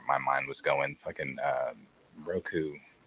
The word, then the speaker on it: Roku: Ruko is related to Zuko. Yeah, that's right. I thought so. I don't know why I backtracked on that. I need to go back and rewatch Avatar. Roku, I can't pronounce it wrong way. Roku. Yeah, Roku Avatar is Zuko's great grandfather.